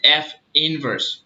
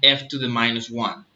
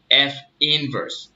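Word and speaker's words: f⁻¹: sense so another remark this symbol is pronounced F inverse not f to the minus one okay don't ever pronounce this as f to the minus one okay it's pronounced F inverse F inverse okay so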